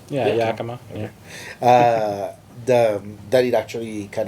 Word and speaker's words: Yakima: Did I pronounce it right? Yeah, Yakima.